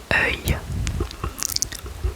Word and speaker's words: œil: Le mot suivant, le mot œil. œil œil œil œil œil œil œil œil œil œil œil œil œil œil œil œil œil